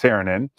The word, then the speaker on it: Saarinen: It's Saarinen.